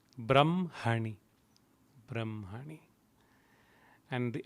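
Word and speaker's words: ब्रह्मणि: come across this term though it is h m we pronounce it as m h brahm hani brahmani and the n had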